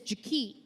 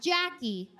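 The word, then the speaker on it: Ja-KE': Her name is Jak, not Jackie.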